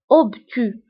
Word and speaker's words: obtus: فهنا بالنسبة للأوبتو كنكتبوها بأس في آخر الكلمة ولكن لا تنطق. obtus أو زاوية منفرجة.